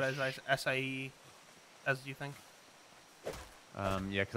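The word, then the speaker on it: açaí: It's probably the longest syllabled word with the least amount of letters. Acai. Oh my god, yeah. Acai. Three syllables, four letters.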